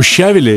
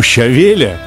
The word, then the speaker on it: щавеля: Вот у щавеля, или, как правильно говорить по-русски, у щавеля, задача совершенно понятная.